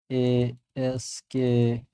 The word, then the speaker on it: ASCII: I will just pronounce this as ASKI.